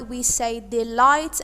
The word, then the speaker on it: delight: The GHT is a consonant cluster, but the letters G and H are silent letters. Silent letters mean that we do not pronounce them. So that's why we say delight and not delight or any other pronunciation.